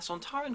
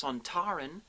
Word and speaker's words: Sontaran: believe it or not, the only reason we pronounce the race Sontaran and not Sontaran is because Kevin Lindsay, who played Lynx, was an Australian and that's how he pronounced it.